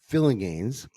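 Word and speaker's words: Phillinganes: And Faith, if you're out there, it's pronounced Greg Fillinganes.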